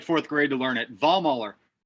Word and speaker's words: Vollmoeller: took me like fourth grade to learn it ball muller ball muller oh spell it it's on the screen man yeah it's